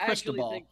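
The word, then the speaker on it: Cristóbal: Also, it's pronounced Cristobal.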